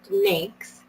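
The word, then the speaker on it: NAICS: programs so the Small Business Administration uses the Nix codes pronounced so it's North American industry classification system pronounced minx to determine the size standard all federal solicitations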